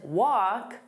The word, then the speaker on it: walk: Now, the pronunciation of wok and walk are the same.